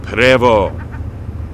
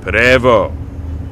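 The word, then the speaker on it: Prevost: And what they build are buses called Prevo. Looks like Pvost, but it's pronounced Prevo.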